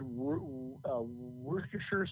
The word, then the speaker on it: Worcestershire: The shires are all sure. If you look at Worcestershire sauce, it was Worcester, and it's pronounced something like Worcester.